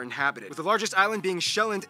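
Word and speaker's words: Sjælland: and 74 are inhabited the largest island being shelland not zealand which is not to be confused with dutch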